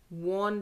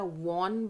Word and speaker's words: won: इसका correct pronunciation में वॉन लिखा हुआ, नहीं। तो ही the India वॉन बाय 2 wickets, नहीं, India वन वन वन वन ही है, ठीक है।